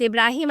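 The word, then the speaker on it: Ibrahim: नामों का फर्क है हम इब्राहम कहते हैं वह इब्राहिम कहते हैं और यह कोई अलग नबी नहीं है यह उसी नबी के नाम को प्रोनाउंस करने का एक डिफरेंट तरीका का है जिसकी वजह से वह नाम ऐसे प्रोनाउंस किया जाता है अरबी में मगर कहानियां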